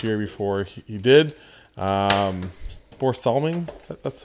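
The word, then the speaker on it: Börje Salming: a ceremony last year before he did um Bor salming that's how you pronounce it um anyways so I got a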